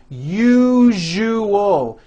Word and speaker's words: usual: syllables you jus oh that second syllable jus the one with the underline needs to be voiced put your hand on your throat and feel for the vibration in the second syllable you jus Oh now